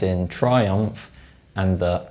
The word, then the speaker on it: Triumph: If you pronounce the M sound in Triumph and the M sound in Royal Enfield, you're wrong. That's because when these sounds are followed by the F sound, they're dentalized.